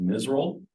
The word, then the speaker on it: MISRAL: That's called MISRAL, the way that we pronounce that.